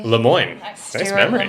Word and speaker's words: Lemoine: Lemoine. Stewart Nice memory. Lemoine.